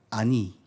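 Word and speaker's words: עני: 아니. 한번 해봐요. 아니. 어디서 많이 듣던 말 아니에요? 아니 얼씬 할 때 그 아니.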